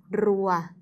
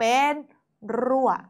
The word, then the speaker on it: รั่ว: ยุค ด้าน บน เป็น รั่ว ออก เสียง ว่า รั่ว รั่ว รั่ว ไม้ เอก รั่ว รั่ว ใช้ ร เรือ เวลา อ่าน จึง ต้อง กระโดด ลิ้น เล็ก น้อย นะ คะ รั่ว นี่ คือ ตัว